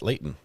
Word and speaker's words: Layton: I even say it right, Layton, not Layton.